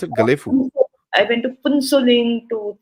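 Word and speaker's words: Gelephu: How do they pronounce it? Galefu.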